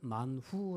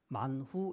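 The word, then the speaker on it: מן הוא: 그 만나 의 원뜻은 그 발음은 만 후 라는 단어인데 히브리어 록 만 후 인데 그 뜻은 이게 뭐냐 오리스 디스 이게 뭐냐 하는 뜻을 가지고 있는 것이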